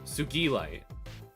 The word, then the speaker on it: Sugilite: how do you pronounce this? Is it like a G? Sugilite.